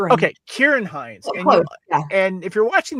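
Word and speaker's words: Ciarán: And that's uh Chiaran Hines or Hines. Kieran. Kieran. Is it Karen? Karen. Kieran. Like Kieran Kulkin. Kieran. Okay. Kieran Hines.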